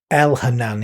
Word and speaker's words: Elhanan: Elhanan is how it I pronounce it. Spelled E L H A N A N. It may not meant to be pronounced that way. That's just me reading the text.